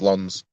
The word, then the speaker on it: Lens: Lens away from, or Lons, however you pronounce it. It's Lons.